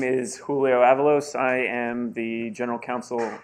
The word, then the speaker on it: Avalos: And Julio Avalos, did I get that correct? No, but it's all right. Keep it going. Fire me already. Tell me how to pronounce Avalos. it. Avalos, yeah.